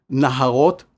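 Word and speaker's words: נהרות: Naharot is a slightly modified variant of neharot, meaning rivers in the plural. This minuscule change in pronunciation from neharot to naharot is all it takes grammatically to link the word for rivers to the next word, which is bavel or Babylon in English.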